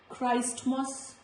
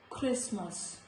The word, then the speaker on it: Christmas: So this word here, this is not Christmas, this is Christmas, Christmas.